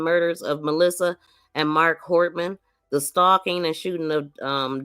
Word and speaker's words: Hortman: He next drove to the home of Speaker Emerita and Representative Hoffman, Melissa Hoffman, or Hortman. I keep saying her name wrong.